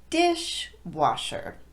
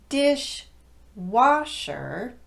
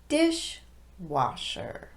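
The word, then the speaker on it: dishwasher: higher pitch washer however when that word is the second word in a compound noun now you have to de-emphasize both of those syllables and the first word gives all of the emphasis so it sounds like this dish washer instead of dish washer it becomes dish washer now let's apply what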